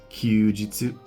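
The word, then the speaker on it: 休日: Second, we have kyujitsu, and in this case, it's read as jitsu.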